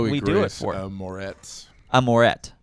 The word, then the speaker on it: Moretz: Moretz. Moret. Yeah, Z is silent.